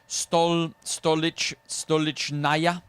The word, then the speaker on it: Stolichnaya: It pronounced Stolichnaya.